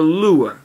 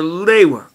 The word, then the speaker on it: Lewa: For example, the official guide to Bionicle claims it is pronounced like Lewa.